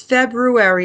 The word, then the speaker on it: February: So happy February, and I told Craig that all month I'm going to have to hear people say February and February, but it's February, and I'm the English teacher, and it's annoying when people say it wrong.